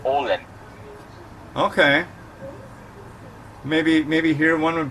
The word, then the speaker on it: Åland: It sounds like you're saying Poland, but I don't think you are. So it's spelled A-L-A-N-D, but with the native accent, it's Åland.